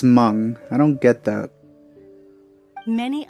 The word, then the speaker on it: Meng: Why don't they write Mung instead of Mang if it's pronounced Mung?